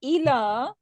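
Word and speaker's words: إلى: So ala with ain mean on, and ila Towards. hamza. Okay.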